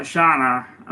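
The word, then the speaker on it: Chana: the Thai I say I call it Shana it's spelled CH a na it's a tracing platform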